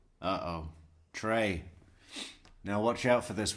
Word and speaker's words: Trey: Trey. Now, watch out for this one, Isim. It actually starts with a silent Z. It's Trey. Like the uh like the uh the clashing of a high hat symbol.